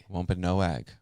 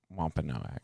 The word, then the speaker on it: Wampanoag: go slow down everybody wampanoag yeah so now that it's google has corrected us on that um it makes a lot of sense that that's how you pronounce it yeah wampanoag lump and no egg so what did they